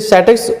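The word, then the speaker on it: chateaux: इसे Shattucks pronounce करेंगे।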